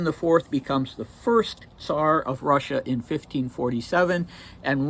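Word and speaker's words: czar: other spellings like the c z a r which technically should still be pronounced SAR uh but that is uh a trivial thing okay so Ivan I fourth becomes the first SAR of Russia in 1547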